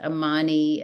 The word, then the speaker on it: Amun: how in marow you say the Divine name amoon so he was Yemen or Amun in Egypt but it is pronounced Amman um in marow and what I meant to